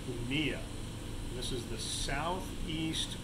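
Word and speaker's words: Jumilla: pacheco in a region spelled it looks like jumila but it's actually pronounced kunia this is the south east corner of spain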